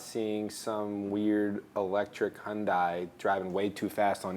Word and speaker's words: Hyundai: Hyundai sh them great wilon County Wilson County hyai wow said it wrong again Wilson County Hyundai Hyundai Hyundai Hyundai this all right Hyundai yeah